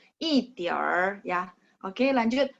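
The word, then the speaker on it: 一点儿: 29 一点儿 jadi langsung baca er-nya langsung disambung ya 一点儿 ya.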